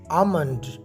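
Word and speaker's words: almond: आमंड, बाज लोग इसे आलमंड पढ़ते हैं, जबकि यहाँ लेटर एल साइलेंट है, यानी ये खामोश है, इसे नहीं पढ़ा जाता, लिहाजा आपने इसे आमंड आमंड प्रोनाउंस करना है।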